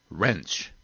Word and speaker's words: wrench: w very little sir sometimes i'm silent as in the word wrench and wrestle and whole and who